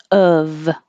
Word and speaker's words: of: be the weirdest thing it's o f but it sounds like u v and most of the time we drop the v sound and it just sounds like uh so of of and then when